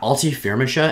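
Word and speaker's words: Alti Firmansyah: Yeah, Alti Firmisha, and that's apparently how you say her name.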